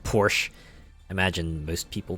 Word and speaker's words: Porsche: you know for the longest time I actually mispronounced Porsche I thought it was pronounced Porsche I imagine most people pronounce it like that